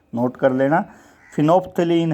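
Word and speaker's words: phenolphthalein: जो कुछ केमिकल्स हैं, जैसे फिनोफ्थलीन होता है, इसका नाम फिनोफ्थलीन है, फिनोल्फथेलिन नहीं, फिनोफ्थेलिन, पीएच यहाँ बीच में जो है वो साइलेंट है, तो फिनोफ्थलीन।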